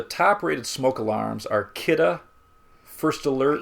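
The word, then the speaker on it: Kidde: rated smoke alarms are kitta first alert you're not going to spell that kitta k-i-d-d-e first alert and b-r-k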